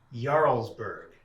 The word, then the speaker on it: Jarlsberg: uh ziti and um Jarlsberg jarls uh the J is pronounced as if it's a y oh okay okay there